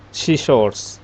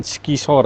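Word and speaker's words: scissors: Gunting itu pronoun-nya seor bukan skisor ya tapi seource.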